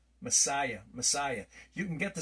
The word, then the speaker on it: Messiah: is a silent letter so there is no English S at the end of Messiah that's found in John